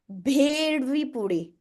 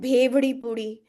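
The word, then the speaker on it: बेड़मी पूड़ी: भी होता है राइट आपने एक नाम सुना होगा भेड़वी पूड़ी और कई लोग उसको बोलते हैं भेवड़ी पूड़ी कई लोग उसे बोलते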